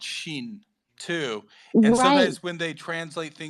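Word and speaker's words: xin: I believe that like the way you pronounce pronounce that x i n actually in Chinese is shin right I thought I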